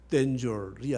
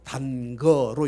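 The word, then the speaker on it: danger: 댄줄이 아니라 단거로 읽었어요.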